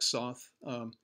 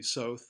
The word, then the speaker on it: Soth: portrait taken by Alec Soth excuse me south I know it's supposed to rhyme with both of a a Mississippi